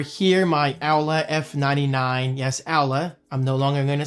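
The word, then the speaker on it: Aula: Yes, Owla. I'm no longer going to say Ola cuz I know Alla is the correct pronunciation.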